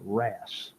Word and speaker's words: wrasse: Yankees booger can't read is pronounced wrasse. Well, why don't you spell it like wrasse?